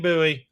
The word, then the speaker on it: buoy: But I have been saying buoy. I I appreciate I appreciate you standing up to the horde of those mispronouncing it, Jay.